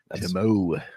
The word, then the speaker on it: Timo: Timo. That's the proper pronunciation.